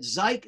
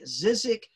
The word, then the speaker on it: Szyk: forgotten even his name s-z-y-k it is a zeit zizik zeke many people don't know how to pronounce it it's like you're introduced to someone